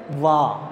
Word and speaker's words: one: sound like a vowel it doesn't sound like a or o it sounds like wah right you can look